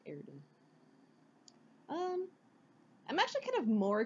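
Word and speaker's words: Erdehn: I pronounce her name as, like, Erdahn.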